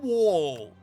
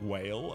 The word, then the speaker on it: Wall: Blood Wall. Pronounced wall with a W, A, and 2 L's. I was certain it was whale.